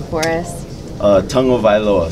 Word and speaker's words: Tagovailoa: Uh, tongue oa. So you say tongue first. O voa.